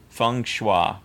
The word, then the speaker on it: feng shui: Feng shui.